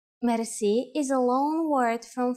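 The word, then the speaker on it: мерси: Merci. Merci. Merci is a long word from French, but it is pronounced with a typical Bulgarian hard R.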